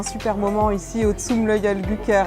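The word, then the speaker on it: Löjelgucker: Donc c'est le Yel Gucker. Löyel Gucker.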